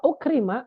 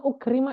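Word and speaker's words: أُكْرِمَ: adalah huruf yang menasabkan wa ukrima ini bacanya ukrima Ya jadi nanti jangan salah Kapan kita baca akrama Kapan kita baca ukrima jangan salah kalau misalkan kita menjadikan dia fi'il mudhori maka kita baca dia ukrima tapi kalau misalkan dia B fi'il madhi seperti yang tadi di awal maka kita bacanya Akrom Jadi jangan sampai salah waukrima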